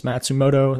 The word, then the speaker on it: Matsumoto: his first name, but I believe the last name is Matsumoto. That's how you pronounce that.